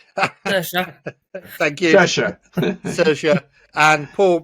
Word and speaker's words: Saoirse: Yeah, this is a new science fiction thriller on Amazon Prime, starring Miss Rowan, because I can't pronounce her first name. Saoirse.